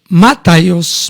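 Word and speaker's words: μάταιος: nos está diciendo hermanos la palabra mataos más o menos es la forma en que se pronuncia en griego Este término que es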